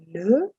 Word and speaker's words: les: The first is L-E, that's pronounced as le. Then you have L-A or la, that is used for feminine singular. You have L-E-S, which is pronounced le, used before masculine or feminine plurals.